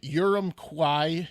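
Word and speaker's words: Urumqi: time good call elon uh the showroom's in urum kwai u-r-u-m-q-i butchered it but that's the capital of ching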